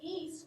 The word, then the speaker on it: geese: Long E. Who can tell me what makes it a long E? Brayden. The two E's together.